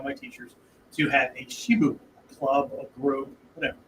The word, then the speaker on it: Shibu: It was a Shibu, S-H-I-B-U as we would spell it in English, right?